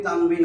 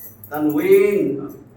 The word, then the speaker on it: তানউইন: ছিল তানবিন আমরা উচ্চারণ করি তানবিন আসলে তানবিন উইন এরকম ছিল তানউইন তানউইন তানবিন দুই জবর